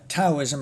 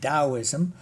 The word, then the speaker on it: Daoism: Although I don't uh call it Taoism, I call it Daoism. It depends on which pronunciation you're using, Yale, Pinyin, or there are a couple of others.